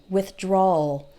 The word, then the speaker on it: withdrawal: withdrawal it's kind of just take the word withdraw and Ole at the end withdrawal withdrawal withdrawal you almost don't hear the W let's see what else